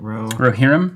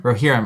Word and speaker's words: Rohirrim: Rohirrim? Rohirrim. I always want to say Rohirrim, but it's Rohirrim.